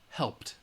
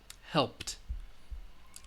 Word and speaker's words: helped: alright the last sound the final sound is that P sound help so we know it's going to have the T and we can pronounce it helped helped alright I'm going to emphasize it a little and exaggerate it so you guys can hear helped the next one walk